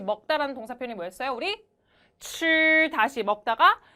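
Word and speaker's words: 吃: 우리 칠 다시 먹다가 칠 한 번 더 칠 좋아요. 빨래할 때 빨하고 혀 위치 잡으신 상태에서 발음해 보시면 칠 좋습니다.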